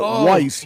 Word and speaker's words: Weiss: No, the the Yeah, these w i ss. You would we'd pronounce it Weiss.